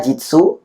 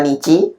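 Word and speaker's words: 日: Bisa dibaca jitsu, bisa dibaca nici, bisa dibaca ka, bisa dibaca hi.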